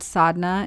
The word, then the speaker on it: sadhana: talk about sodna so the word sodna is spelled s a d h a n a most often and in